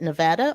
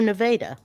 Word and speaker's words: Nevada: Is it Nevada or Nevada? I've heard it both ways. I've heard Nevada and Nevada. And Yes, since that too. when I lived in the Midwest, there's a couple of pronunciations for Western states. In the Midwest, I would have said Nevada. But now that I live on the West Coast, I say Nevada because the actual natives say Nevada.